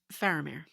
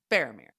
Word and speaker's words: Faramir: say what kind of vowel sound is it faramir is it faramir how are we saying this man's name I'm still going to say it both ways but like what's the correct way faramir faramir yes okay I will try to say it